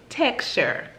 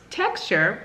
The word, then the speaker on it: TXTR: or is actually pronounced texture IC which I did there I see what you did so on the back it states pronounced texture that can - is